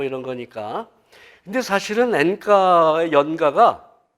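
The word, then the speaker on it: 演歌: 이런 거니까 근데 사실은 엔카 연가가 이 3월 년 자가 아니라 펼칠년 연설하다 할 때 연가하고 그래서 일본식 발음으로 엔카 그리고 그 연설가의 준말이에요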